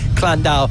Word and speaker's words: Llandow: I'll pronounce it correctly because there's a few comments going around about which way it's spoken, but I'll say Llandow for this time.